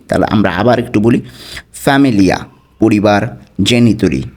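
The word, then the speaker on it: famiglia: তো ইংরেজির সাথেই কিছুটা মিল আছে, ফ্যামিলিয়া, ঠিক আছে, ফ্যামিলিয়া। এখানে কিন্তু জিয়ের উচ্চারণটা হচ্ছে না। ফ্যামিলিয়া অর্থ পরিবার, ফ্যামিলিয়া পরিবার।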